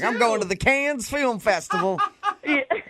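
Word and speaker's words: Cannes: Can I ask is it con or is it the canned film festival?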